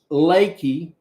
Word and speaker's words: Leakey: of is a place called Leakey but it's spelled like it's leaky you know like a leaky faucet I believe there's an